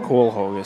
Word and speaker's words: Coelho: Coelho, C-O-E-L, Coel, like Noel. Noel, Coel, Coelho. Quello, or something different.